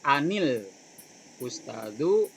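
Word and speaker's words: أنِ الأستاذُ: Nah, kalau cara membaca an yang dimatikan ketika dia dibaca sambung karena ada hamzah wasol di sana al ustadu, maka cara bacanya langsung saja di kasroh. Makanya di sini kan sudah dikasih kasroh ya.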